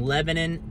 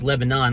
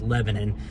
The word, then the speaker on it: Lebanon: right everybody that was Pete King here in Lebanon Tennessee or if you're non-local it's Lebanon like the country but it's actually pronounced Lebanon uh if you're a local here you know